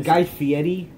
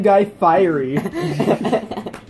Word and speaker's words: Guy Fieri: Guy Fieri, but Brandon, You mean Guy Fieri? Yeah. One knows how to say his name. Brandon used to call him Guy Fiery.